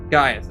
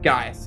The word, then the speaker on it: Gaius: Gaius, it's Gaius. I always gotta remember his name is Gaius. It's spelled freaking weird.